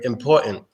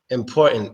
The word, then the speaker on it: important: ] which is basically instead of pronouncing the T sound at the end of the word you stop the sound with your throat so like in the word important important or you could say